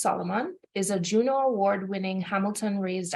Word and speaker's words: SLMN: So Moe Sulaiman, he's known as SLMN and pronounced Solomon, is a Juno Award-winning